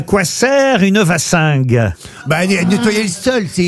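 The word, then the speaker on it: wassingue: vach S mais c'est non c'est V c'est ven la prononciation vassing effectivement c'est du picard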